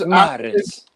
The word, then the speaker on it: Mahrez: Like teams, Mahrez. That's how you say it in the Arabic accent.